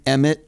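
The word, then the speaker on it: M. Emmet: you say em em EMT is that how you're supposed to say it EMT yeah yeah so I'm a big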